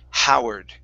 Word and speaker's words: Howard: Okay, so instead Howard. of ha, okay, really pushing into that H, nice light H. Howard.